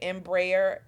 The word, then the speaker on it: Embraer: I have M am I saying it right Embraer e175 correct yes okay did you pick that